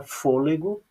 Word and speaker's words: fôlego: Então, quando nós falamos, vejam que o for eu falo mais alto do que o lê e o gó. Observem. Fôlego, viram? Então, a sílaba tônica da palavra fôlego não é o gó, não é a última, nem a penúltima, ela é a antepenúltima.